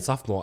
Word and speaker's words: sophomore: The letters in sophomore are like... It's spelled so much... It's spelled so much longer than you think it is.